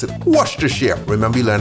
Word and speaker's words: Worcestershire: Pronounce it Worcestershire.